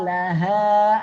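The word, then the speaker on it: لها: Auha au wawunya ya, auha laha. Nah, baru yang kedua laha, ha pangkal tenggorokan ya, bedakan ya.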